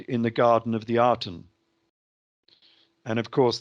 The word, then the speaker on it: Aten: Well, these two were naked in the Garden of the Aten. And of course, the Aten is spelt with the reed glyph, and the reed glyph is pronounced as an E more than an A.